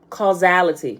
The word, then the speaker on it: causality: looking at the pronunciation the s be throwing me off sometime but it's pronounced like a z call zality okay in